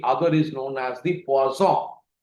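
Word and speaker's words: Poisson: The other is known as the pazong. It is written as P O S N pronounced as quazon.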